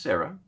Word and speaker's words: Sarai: And I've since talked with her a little bit back and forth, and her name is actually pronounced Sarah, but or can be pronounced Sarai.